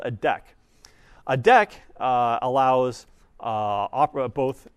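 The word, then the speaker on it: deque: called a deck right and again this is pronounced deck it's spelled d e qu e so it's not a it's not a DQ DQ would be D and then the full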